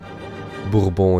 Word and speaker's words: Bourbon: Bourbon is the way you say it in French.